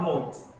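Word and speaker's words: knot: The next one is not note. Here K is silent, so it will be not, then not. Note. Okay. So not is K is silent, so it will pronounce as not.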